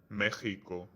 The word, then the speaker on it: México: In Mexico, the X is G, México.